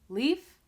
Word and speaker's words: leaf: Leaf, the E sound is very fast, leaf. And then in leave, the E sound is longer, leave.